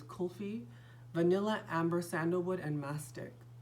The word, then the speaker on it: kulfi: you say cold feet I always want to say coffee but it's kulfi vanilla amber sandalwood and